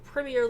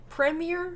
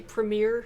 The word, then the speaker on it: premier: been criticized uh because americans apparently mispronounce it and we say premiere because we put the emphasis on the last part of the word i think the english uk put the emphasis on the front part of the word preemie